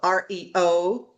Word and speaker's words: Ario: Justin Abrams, he is the CEO of REO, but it's spelled like a R Yo, Ario Consulting Group, live from Boston.